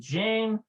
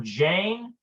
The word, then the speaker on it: ג'יין: Notice this little mark right here. This little mark right here means that it's not in the typical Hebrew phonetic. It's a hard G, like J, like jeans.